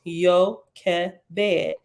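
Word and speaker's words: יוֹכֶבֶד: It is pronounced Yochebed and has come into English as Jochebed.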